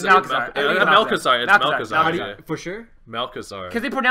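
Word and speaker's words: Malchezaar: I think it's Malchazar.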